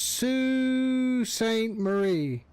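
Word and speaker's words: Sault Ste. Marie: Pronounce Sue St. Marie.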